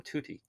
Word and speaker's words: tutti: uh and i should just use that term tutti yeah it's a good one t-u-t-t-i that's how you spell it and it means the